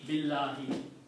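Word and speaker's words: بِاللهِ: When you finish Allahu, your tongue is on the top. There are makharij of the letters. Okay? But by changing Allahu to Allahi, we are making it consistent with the B. B Allahi Billahi. See how it is easy to pronounce?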